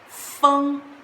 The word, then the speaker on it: 风: It pronounced as 风, which means wind, and this character is a simplified character.